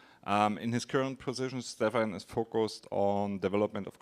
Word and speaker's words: Stephan: Yeah, I pronounce it on German. Stefan Stefan Zara.